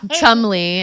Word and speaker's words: Cholmondeley: Oh yeah, Chumley is how they pronounce it.